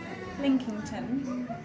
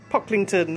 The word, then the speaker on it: Pocklington: I have had the most lovely time at Pilkington, Hawkington, Linkington. I've had a really lovely time here, and I obviously know exactly how to pronounce it, but being dyslexic, I can read